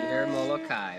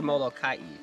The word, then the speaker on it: Molokai: place is very special cedar molokai or cedar molokai depending on how you pronounce yes our neighbor we've